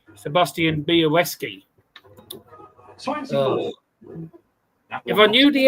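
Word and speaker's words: Białecki: It's the L with that line. It's pronounced W. So, it's Sebastian Boweski.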